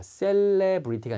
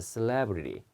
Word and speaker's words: celebrity: 유명인 할 때 celebrity 이렇게 발음합니다. celebrity가 아니라 celebrity. 예, celebrity.